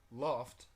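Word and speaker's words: lopt: or be mistaken now the Old Norse word Loft which is spelled l o PT but the Old Norse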